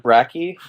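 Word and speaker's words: Brakke: had these ideas and uh you know David brachy um is it brachy is that how it's pronounced yeah brachy Rocky you know his book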